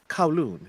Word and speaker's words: Kowloon: How did you pronounce the name of this city? Kowloon, it's a part of Hong Kong.